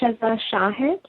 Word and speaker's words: Shiza Shahid: I do that um I pronounce it shazah Shahid sh people get confused and make up all sorts of pronunciation so don't worry about